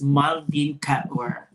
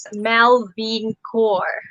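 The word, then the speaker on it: Malveen Kaur: so that our viewers knows who is miss maldin cat catware is it right uh the pronunciation of your name is martin a lot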